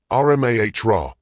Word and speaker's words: Amora: He'd pronounced it correctly, Rmah, with a slight emphasis on the middle syllable that most people missed.